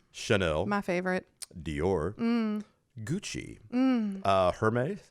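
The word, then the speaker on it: Hermès: Hermes. Hermes. Hermes. It's spelled Hermes.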